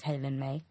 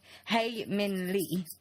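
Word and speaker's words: Hae Min Lee: think her name is Halen may he Min Le not Halen May hey hey Min Lee yeah she was murdered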